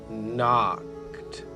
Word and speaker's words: knocked: The K is silent. She's just keeping the N company while he does the talking. So, it's... He knocked on the front door.